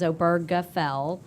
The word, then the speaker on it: Obergefell: the guy's name but I've actually heard him pronounce it himself and it is obergefell with a heart G so along comes obergefell